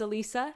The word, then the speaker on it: Elisa: Hey everyone, it's Elisa, not Alyssa, and today I'm going to teach you how to pronounce the y sound in Italian.